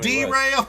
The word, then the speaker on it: Darrell: Here we go, Kenny, pronouncing a African American name. That's Darrell. How'd you know? Derail.